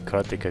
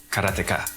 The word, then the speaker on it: Karateka: In Japanese, there's no stress on any syllable, so it would be Karateka, something like that.